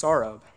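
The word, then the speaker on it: Saurabh: a couple people that my name is actually pronounced saurob well that really threw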